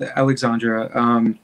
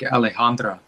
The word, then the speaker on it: Alejandra: So I think with Alexandra, and I pronounce her name like that. And I don't know, there was some miscommunication about her. She told me the actual pronunciation is, I think, Alejandra.